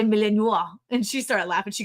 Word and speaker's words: Malinois: And I'm like, Malinois?